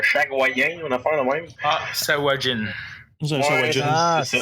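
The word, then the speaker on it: Sahuagin: si je vais dire tout croche, j'ai jamais regardé le prononcer comme faux, cette affaire-là. C'est un Shagwayen, une affaire de même? Sawajin.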